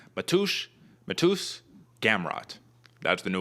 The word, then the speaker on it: Mateusz: one so i guess his name is matthew in like polish so like matush matus gamrat that's the